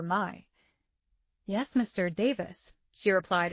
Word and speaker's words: Mai: Nay, instead of the proper Mai.